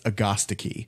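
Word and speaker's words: Agastache: wouldn't fair so yeah technically it's Augusta key and so once no thanks once I found out that that was the correct pronunciation I just call it hyssop now I stopped saying like a statue and I'm not gonna say Augusta key so I just refer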